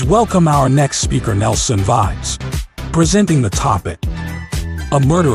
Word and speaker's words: Vides: It's pronounced Vides. It comes from wine, so I'm proud of it.